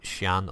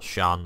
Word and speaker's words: Xi'an: It's the Scout, by the Xi'an, or Shan, I've heard it pronounced a couple of ways now.